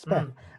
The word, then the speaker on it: Speth: Ralph Speth, if it's You are pronouncing it right. You haven't got a speech impediment, so yeah, that is his name, Ralph Speth.